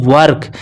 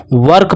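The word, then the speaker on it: work: पढ़ेंगे इसे पढ़ेंगे बच्चों वर्क क्या पढ़ेंगे बच्चों वर्क पढ़ेंगे वर्क नहीं कुछ बच्चे सोचेंगे ओ है तो ये वर्क हो जाएगा नहीं नहीं नहीं वर्क होगा और वर्क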